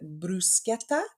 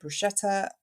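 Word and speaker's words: bruschetta: I got top marks for pronouncing brusketta correctly I've been calling it brushetta all this time which was really annoying one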